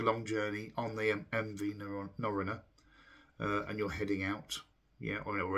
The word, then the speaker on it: Norröna: It's actually MV Norröna. Norröna is how you pronounce it, the MV Norröna.